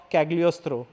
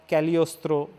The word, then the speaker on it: Cagliostro: third the castle of cagliostro or caliostro in which case g is silent i don't know which